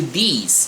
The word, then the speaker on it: these: O this e o these. E aqui muito importante frisar na pronúncia, tá? Ó. These. Você força mais a garganta. Ele é um som de I mesmo.